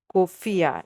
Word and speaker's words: Khufiya: on on your location and it's actually called kofia yes kofia I will spell it out basically is k h u f